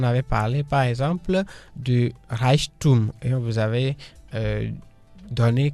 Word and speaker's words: Reichtum: Der Reichtum qui s'écrit R majuscule E I C H T U M.